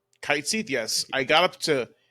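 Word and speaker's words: Cait Sith: where we where you meet K am I pronouncing it right K kite SE yes I got up to him and then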